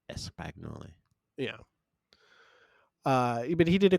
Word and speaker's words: espagnole: Put is it pronounced Espanol? It's pronounced espagnol. Espagnol. You kind of hit the everyone says Espagnol. it differently, obviously, but the one I heard is like espagnole.